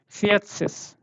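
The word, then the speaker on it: vierzig: Yeah, te should also come after fear. When you are reading it, fiatsis.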